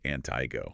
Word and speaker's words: Antigo: And for anyone not from around here, that's pronounced Antigo.